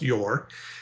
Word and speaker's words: Ure: If you don't know me, that my last name is pronounced Yor.